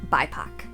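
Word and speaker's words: BIPOC: important with race sex disabilities family status so bipac b i p o c is an acronym for black indigenous and people of color so it's pronounced bipac I had to look that up this diversity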